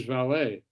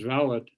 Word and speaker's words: valet: uh this is about his valet or is valid however you want to pronounce it i'll i'll use valid to go along with you uh justin this is the english way of pronouncing it and i use the english pronunciation throughout so valid will be